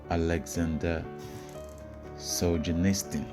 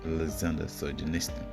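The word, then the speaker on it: Aleksandr Solzhenitsyn: It's written by a Russian called Alexander Solzhenitsyn. I think that's what it's pronounced. Alexander Solzhenitsyn.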